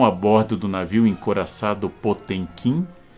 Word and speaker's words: Potemkin: Antes chamado o encouraçado potemkin dizem que em russo se pronuncia potion como eu não sei falar russo não posso nem confirmar para vocês o navio encouraçado potemkin